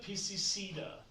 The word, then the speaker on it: piscicida: Please write down, if you're curious, just for nerds, Pfisteria piscicida. It is spelled Pfisteria. That's Pfisteria. Pfisteria. Pfisteria. Piscicida, like killing fish. Pisces, like homicide, but for Pisces.